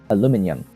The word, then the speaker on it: aluminium: Aluminium. It's spelled aluminium. It's aluminium. Aluminium. Yes, that is how you say that word. It's aluminium. Like titanium, aluminium. Not aluminium.